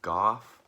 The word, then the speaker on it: Gough: They call him Goff, but it's spelled Michael Gough, like the guy that plays Alfred in the old Batman movies and in Hammer films.